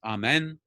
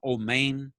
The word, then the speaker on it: amen: in accents so the the word is amen in sephardic pronunciation oh main we have adonai and